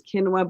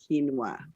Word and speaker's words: Kinwa: Her name is Kinwa Blue Sky, and that is Kinwa, not quinoa.